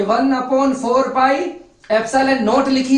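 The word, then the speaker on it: epsilon naught: इसका प्रोनाउंसिएशन ऐसा होता है, एप्सिलॉन नॉट जो होता है इसको हम बोलेंगे निर्वात की विद्युतशीलता।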